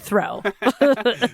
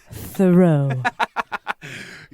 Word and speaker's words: Thoreau: to get words out so i say henry david throw just throwing out the words probably not the words and i uh i get that it's pronounced thoreau it's yeah i mean